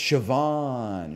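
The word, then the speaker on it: Siobhan: they don't come second nature to me it's sioban sioban okay sioban thank you thank you guess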